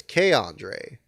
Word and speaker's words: Keandre: Close, except the K in Keandre is pronounced like you pronounce it when reciting the alphabet. So it's Keandre. I really thought it'd be Key, but yeah.